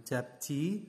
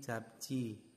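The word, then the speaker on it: 접시: ada jabji ya jabji Ini bukan jabji tetapi jabcii jabcii ya itu Adya piring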